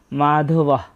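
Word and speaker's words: মাধবঃ: আমরা আগেই জেনেছি যে শব্দের শেষে যদি কোন বিসর্গ থাকে তার জন্য অর্ধেক হ এর মত একটা সাউন্ড আসে। তাই এখানে হবে মাধবাহ।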